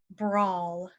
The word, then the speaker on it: brawl: of his claws sharpness the next one has a similar sound brawl brawl nough brawl is